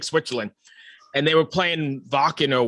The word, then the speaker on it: Wacken: And they were playing Wacken or Wacken, however you pronounce it.